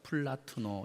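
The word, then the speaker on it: πλατύνω: 이 넓은 마음이라는 이 구약 히브리어를 70인경 헬라어 단어로 바꿨는데, 그 헬라어 단어가 무슨 발음을 제가 해볼게요. 플라투노입니다. 플라투노.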